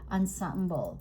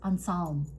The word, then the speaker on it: ensemble: speech teacher said that you're not supposed to say ensemble. It says en samble. I was like, "What?" En samble. It is like two two two syllables.